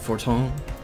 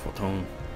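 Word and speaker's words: Fortemps: I have already forgotten how to pronounce Fortal. Is it Forton? Yeah, Forton.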